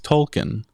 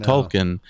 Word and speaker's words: Tolkien: case in point is Tolkien I always have said Tolkien and of course it's supposed to be Tolkien or something and they emphasize the eating yeah um yeah but